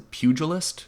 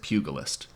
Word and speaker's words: pugilist: The pugilist or is it pugalist? Pugalist I think.